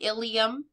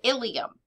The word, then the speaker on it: ilium: type issues for example the ilium vs. the ilium I said that exactly the same way the ilium vs.